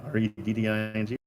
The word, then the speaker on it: Reading: Reading? Redding? Yeah, like it's like reading. It's spelled exactly the same. We just call it Reading.